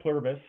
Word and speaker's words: Pluribus: We're going to talk about Pluribus in a second here. Is Is Is that how you say it? Plurbus. I think it's Pluribus. Pluribus. Okay. There's an I in it somewhere.